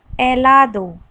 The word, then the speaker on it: helado: H, helado. H is silent in Spanish.